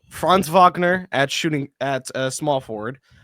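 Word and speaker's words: Wagner: Um, France Vagner uh having I think he's German, right? Is he German? If he's not German. Yeah, he's from Berlin. He's German. Okay. Fr. So, it is Vagner.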